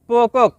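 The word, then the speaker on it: pokok: শব্দটি লেখার ক্ষেত্রে লিখতে হয় পোকক, তবে এর সঠিক উচ্চারণ হবে পোকো।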